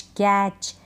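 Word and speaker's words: catch: तो इन सारे स्पेलिंग्स में टी के बाद सी एच है। टी को हम नहीं पढ़ रहे हैं, टी का उच्चारण नहीं होता, ये आपको ध्यान रखना है।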